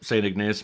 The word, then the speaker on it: St. Ignace: St. Ignace. Is that how you say it? Yep, that sounds right. St. Ignace, Michigan.